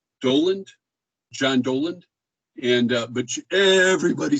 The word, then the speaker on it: Dowland: john dowland d-o-w-l-a-n-d uh the book makes the point that it's pronounced doland doland john doland and uh but everybody says dowling so for what it's